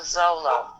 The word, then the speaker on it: Zolo: Oh, and I should just say it's House of Zolo. Oh man, I did it wrong. I asked how it was pronounced, and then I said it wrong. House of Zolo.